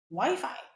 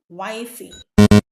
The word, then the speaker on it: Wi-Fi: Wi-Fi? Don't say wifey.